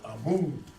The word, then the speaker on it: Amen: This word right here, Amen, which we also pronounce as Amun.